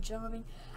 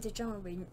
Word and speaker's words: Djarin: I remembered to spell his name by saying Din Djarin because it begins with a D, not a J, with Djarin. So when I say Din Djarin, I don't actually mean to say it.